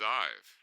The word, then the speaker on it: Zive: Zive. Did I pronounce that correctly? Yes, you did.